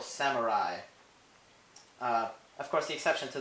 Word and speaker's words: samurai: I, however, isn't spelled with the letter it makes, it's spelled with an AI. For example, samurai.